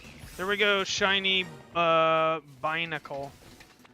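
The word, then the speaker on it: Binacle: Shiny uh Bacle. I've been saying his name wrong. I've been calling him Barnacle.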